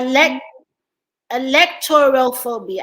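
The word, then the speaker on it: alektorophobia: okay you have a leg electoral phobia i don't know how you pronounce it what e-l-a-l-e-k like alex okay t-o-t-o-r-o like toro yeah and then follow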